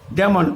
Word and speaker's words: damn: আবার ড্যাম, DAMN, ড্যাম, হ্যাঁ, ড্যামন, actually উচ্চারণ হবে কি ড্যামন, তখন এন এর উচ্চারণটা যদি করি তাহলে ড্যামন হয়, কিন্তু ড্যামন তো আর হবে না, উচ্চারণটা হচ্ছে ড্যাম, মানে গালাগালি করা।